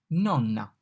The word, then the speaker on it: nonna: N, nonna. The N is pronounced like N in November, November, no, November, nonna. O, oca.